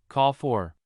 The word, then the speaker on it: call for: to be implemented a call for something is a public demand for it to happen call is a noun here so the stress falls on the first syllable call for here are some other